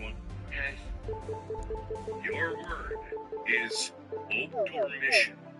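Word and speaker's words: obdormition: Your word is obdormission.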